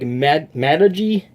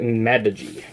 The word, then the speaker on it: Magegee: I believe it's pronounced like Magegee. Like, that's what Texas Speech is saying, that how the company is pronounced, so I'm just going to go with it and call it Magegee.